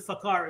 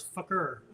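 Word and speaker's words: Fakhir: So we were told it wasn't Fakar, it's Fakir.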